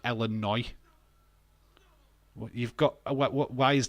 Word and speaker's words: Illinois: yeah so Illinois is that's what that says elino but you say it like Illinois you've got what why